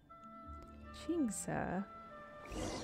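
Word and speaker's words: Qingce: Jingsa. So that's how you pronounce it, Jingsa.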